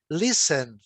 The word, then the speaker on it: listen: Listen, listen. Sempre lembrando, né, que é listen, né? Não tem o T, não fala, é mudo.